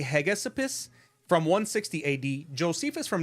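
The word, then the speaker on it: Hegesippus: uh I can't even say this guy's name it's spelled h g e s i p p u s I would say heg Esopus from 160 ad Josephus from 93 ad tulian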